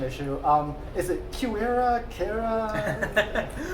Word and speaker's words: QuEra: So, another pronunciation issue. Um, is it quer? Officially, we say Qua.